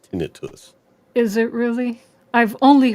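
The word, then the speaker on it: tinnitus: Tenitis. Well, a lot of people say it the correct way of pronouncing it is tinitus.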